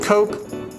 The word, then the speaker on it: Koch: I think it's actually pronounced Koch, but it feels more fitting to say Koch each time.